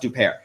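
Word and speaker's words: Huppert: uh oh no and on new upare it's pronounced upare so uh this this film stars uh Isabella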